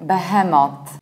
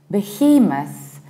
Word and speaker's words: Behemoth: Usually Polish people pronounce it like behemoth. In the British accent, we pronounce it like behemoth, behemoth with a reduced ending.